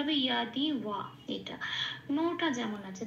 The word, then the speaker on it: যদি: আচ্ছা, এবার আছে ইয়াদি, যদিকে বলবো, যদিতে লাল দিয়েছি কারণ যদিটাকে বলতে হবে ইয়াদি। হ্যাঁ, 1 নম্বরে তালিকাভুক্ত করা আছে, যাকে আমরা হর্ষের প্লাস অন্তস্থ ইয়া বলে উচ্চারণ করি, সেই জন্য ইয়াদি।